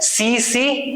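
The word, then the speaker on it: tsetse: ये होती है सीसी मक्खी की वजह से। कौन सी मक्खी है? सीसी, टी साइलेंट है।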